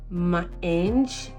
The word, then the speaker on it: Maange: This is from it's called Mange. I don't know if you're gonna be able to see it. Mange, so it's spelled MAANGE.